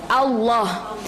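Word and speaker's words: الله: Fatehah Bukan ah ya huruf alif yang berfathah itu kan bacanya a bukan old jadi level jalaha itu Allah Hai akan Ibu bukan dia bukan old jadi Alif yang difathah bacanya bukan Oh tapi a-naftol qulhuallah disitu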